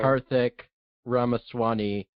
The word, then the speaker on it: Karthik Ramaswami: Karthik Ramaswami, logistical executive producer and unit production manager. Did I pronounce that right?